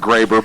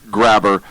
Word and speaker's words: Graber: which is even better it's probably pronounced Graber but under this story I'm saying it Grabber here's a quote from